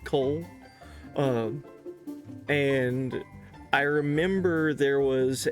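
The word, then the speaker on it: Kol: The last place that I discovered was the town that I should be loading into of Cole, like K-O-L. I guess it's pronounced Cole.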